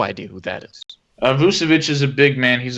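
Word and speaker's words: Nikola Vučević: of them except for nicola vusavich that's pretty good pronunciation yeah you got it right uh i have no idea who that is uh vucevic is a big man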